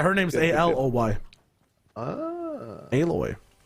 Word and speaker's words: Aloy: Oh, you said Aloy skin. So Canadian. That's the way you pronounce her name. Oh, is it? Never mind. Yeah. I thought it was alloy.